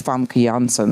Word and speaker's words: Famke Janssen: And especially because at that point, like I have such a my name is Famke Janssen, that's how you really pronounce it.